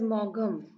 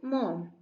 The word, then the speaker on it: Maugham: Okay, so it is not read as Mogham. It is only pronounced as mom.